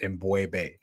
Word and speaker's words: M'Bwebe: Um correct pronunciation of my name is Embu.